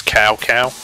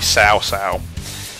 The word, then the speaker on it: Cao Cao: person who does the commentary for the introduction pronounced south sales name is Cao Cao that's actually incorrect his Panetta's pronunciation it meant to be sau sau the funny thing is when I was a